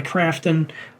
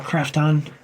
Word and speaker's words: Krafton: It's being developed by Unknown Worlds Entertainment and published by Krafton, or Krafton, depending on where you put the emphasis on which syllable.